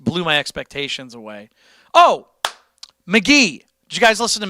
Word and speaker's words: Mk.gee: I can't play him on the show right now because it's copyrighted, but it's it's spelled MK. I mean, this is old news by this point, but MK.Gee McGee.